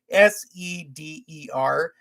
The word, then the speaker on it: seder: that the name of the meal is called sader it's spelled s-e-d-e-r and i watched some um you know services